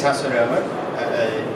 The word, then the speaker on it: Hasse Römer: So, my name is Hasse Römer, pronounced in Swedish, and I've been working with what we like to call the Internet of Logistics.